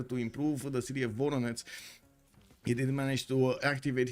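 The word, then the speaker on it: Воронеж: It pronounces something like Voronezh. Not Voronezh, it's Voronezh.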